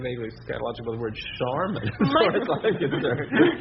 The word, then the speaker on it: Charmin: The name of the product was Charmin, like charming, with an apostrophe at the end.